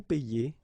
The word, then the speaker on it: paie: Okay, and in that case it's quite funny because we tend to make the difference maybe in pronunciation, so between this one, je paie, and then some persons can pronounce je paye.